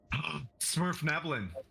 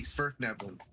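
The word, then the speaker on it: Svirfneblin: Smurf Neblin. Spurf with a V, Spurf Neblin.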